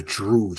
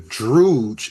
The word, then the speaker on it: Druj: Then you have something called the Druge. It looks kind of like drug, but it's spelled Druj, but it means the lie.